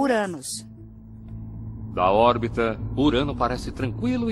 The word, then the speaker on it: Uranus: Eu pronuncio o nome do planeta como Uranus.